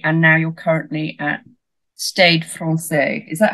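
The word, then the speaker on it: Stade Français: now you're currently at stade France is that how you is that the right pronunciation or well it's close I think they say start Fran say yeah it's one of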